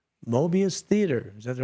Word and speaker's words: Mobius: And 7:30 p.m., live from the shallow end of the gene pool, it's Mobius Theater.